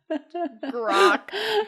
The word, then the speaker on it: Grakk: Grok. Grok. Grok. Grok. Grok is spelled Grakk. And I think you guys are going to really like this art when you see it.